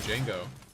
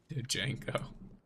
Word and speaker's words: Django: The D is silent. I was talking about watching Django earlier.